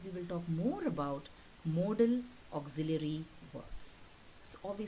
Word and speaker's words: modal: that can be expressed making use of these modal verbs and one more thing i would like you to focus is on the spelling and the pronunciation of this particular word some people say model verbs it is wrong okay the pronunciation is